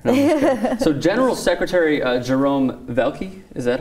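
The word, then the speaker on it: Valcke: No, so General Secretary Jerome Velke, is that how his name is pronounced? Velke, yes.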